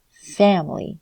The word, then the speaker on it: family: syllable upset about okay family so in this case family is that first syllable has the first syllable stressed okay and unstressed vowels